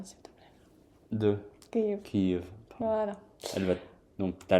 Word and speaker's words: Kiev: Ouais, tu le prononces bien s'il te plaît. de Kiev Kiev Voilà.